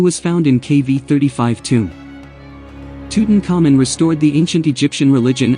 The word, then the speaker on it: Tutankhamun: Tutankhamun Egyptological pronunciation Tutankhamun, commonly referred to as King Tut, was an